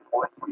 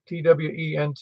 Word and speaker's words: Twente: I think if you want to hear it, you can hear an FDR is located at the University of Twenty in the Netherlands.